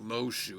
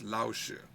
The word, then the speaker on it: Laoshu: spelled his name wrong it's not lo shoe it's laoshu I'm not offended by that